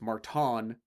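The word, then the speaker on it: Márton: That's not even a pronunciation that I tried, but it's Marton. What was that, Mike? Sokas. Marton Sokas.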